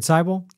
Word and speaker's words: Seibel: I am Seibel. And I'm Jason Barney. And my last name rhymes with Bible.